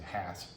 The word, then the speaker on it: Hass: that that was four years earlier than the Haas avocado was even discovered in uh Rudolph the house is actually pronounced his name hats just like H with a donkey has so